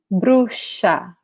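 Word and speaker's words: bruxa: the x it's indeed pronounced like a k followed by s taxi but here no the sound here is of s followed by h sh okay this is the sound so i'll say it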